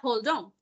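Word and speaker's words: hold on: a querer hablar ahí Permítame un momento holdán Entonces ahí se emplea incluso yo esa frase a cada rato le digo lo que es ese Freezer separado pero se pronuncia holdón Entonces ahí es como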